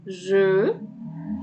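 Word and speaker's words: jeu: بيتنطقوا يعني دول كده حرف الاي واليو بيتنطقوا جو. هيتكرروا معايا في الكلمة اللي بعدها هنا اهو. برو، في، سر اخر 3 حروف الاي واليو اهو اتكرروا معايا زي جو، يبقى الاتنين نفس النطق.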